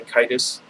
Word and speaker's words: Caedus: After a violent civil war and the devastation wrought by the now fallen Darth Caedus, it's how I always pronounced it. I think some people say Caedus.